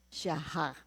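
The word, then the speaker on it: shachah: S H a c h a h. Pero ang kaniang pronunciation siyaha.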